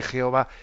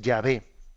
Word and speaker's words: Yahvé: llegaron a entender que la pronunciación más correcta más que Jehová es Yahvé.